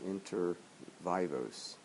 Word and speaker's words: inter vivos: the second class we figured out the actual pronunciation of the word for lifetime gifts, and that is inter vivos, lifetime gifts, as opposed to gifts at death, which are called testamentary gifts.